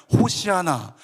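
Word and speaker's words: הושיעה נא: 그래서 호산나라고 했는데 히브리어로는 호산나가 뭐냐면 호시아나. 호시아나. 호시아나. 그러다가 이게 발음 교호상 호산나. 그래서 어떤 찬송에서는 호재나 오제나 이렇게 부르기도 하잖아요.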